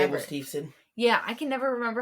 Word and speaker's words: Steveson: His last big match was against um Gabe Stevelson? Yeah, I can't say his name correctly ever. was Steveson.